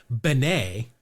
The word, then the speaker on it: Bene: I'm guessing a lot of our listeners know the two Billy Beans that we are thinking of, but no, his last name is pronounced Benet.